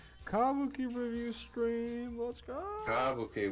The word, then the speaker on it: kabuki: Kabuki with the emphasis on the first syllable. Kabuki.